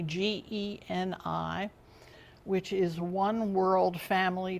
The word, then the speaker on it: Geni: And then there's another platform called Geni, some pronounce it Jenny, Geni, which is One World Family Tree.